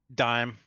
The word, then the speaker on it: Doom: Dime. Like the coin dime.